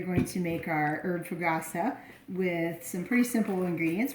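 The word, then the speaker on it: Fougasse: Fogousse.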